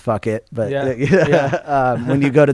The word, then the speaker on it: Phuket: Yeah, and then when you go into the islands, that's where like Phuket, or it's actually pronounced fuck it, but when you go to the other islands, it's super cheap.